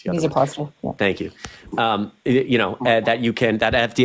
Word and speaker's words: Misoprostol: drugs, mifepristone and I never know how to pronounce the other one. Misoprostol.